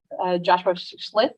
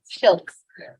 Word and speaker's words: Schultz: Also present here is Schlitz. How do you say it? Schultz.